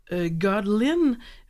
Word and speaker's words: Kahtolin: Si jamais les gens veulent vous retrouver, alors on écrit votre nom, vous le prononcez Godlin ou... Exact. Oui, c'est ça.